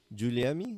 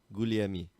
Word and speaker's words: Guglielmi: Luca Guglielmi. Did I pronounce that right? Giuliemi? No, there's no I. Guglielmi.